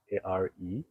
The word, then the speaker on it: Aretee: It's called Aret Studios. It's spelled ARETEE, but it's pronounced Aret.